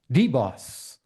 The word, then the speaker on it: DBOS: but based on that description maybe we can pronounce it as deboss yeah yeah that's how we say it is